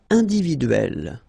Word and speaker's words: individuelle: It will open the sound of E, so you will pronounce it like E.